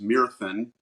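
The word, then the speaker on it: Myrddin: My character, instead of Merlin, it's Myrthin, which was the actual Welsh name.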